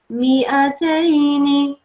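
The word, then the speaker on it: مائتين: And here as well, alif zaida, you can see, you won't pronounce this, so you just ignore that one, and you go and you just say, in continuation, you say, mi'ataini.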